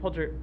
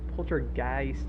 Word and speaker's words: poltergeist: a podcast episode on Skinwalker Ranch yeah but pter pter guys Poltergeist Poltergeist at I've been pronouncing it so wrong for so long it's